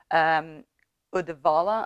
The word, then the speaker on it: Uddevalla: Uddevalla, I don't know how to pronounce it in English, but Uddevalla in Swedish.